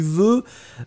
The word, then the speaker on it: veux: Ice Cubes, be careful, tu veux, V-E-U-X, hein, remember, we don't pronounce it, but should it should be there.